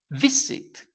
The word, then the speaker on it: visit: is the exception bit the pronunciation is not bit is visit vit right the accent is in v therefore the t is